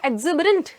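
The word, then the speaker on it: exuberant: और आपका दूसरा वर्ड क्या था, बताओ जल्दी से, एक्स ऊबर में बैठा हुआ है तो एक्सिबरेंट। ओके अब एक्स ऊबर मत कर देना, गलत प्रोनाउंसिएशन हो जाएगा।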